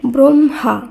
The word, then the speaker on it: ব্রহ্মা: বয়রফলা হয় ময় আকার শব্দটির উচ্চারণ হবে ব্রহ্মা এখানে আগে ম পরে হ উচ্চারিত হয়েছে এরপর বয়ফলা আকার হয়